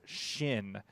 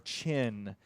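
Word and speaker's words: Qin: is ranked 1807 and i believe it is pronounced shin or chin uh it is the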